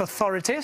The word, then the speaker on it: authority: Quand on prononce authority, stress should be on the second syllable, donc l'accent tonique devrait être sur la deuxième syllabe, et comme il accentue